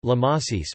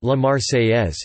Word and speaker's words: La Marseillaise: Topic: La Marseillaise, French pronunciation La Marseillaise, became the national anthem of France.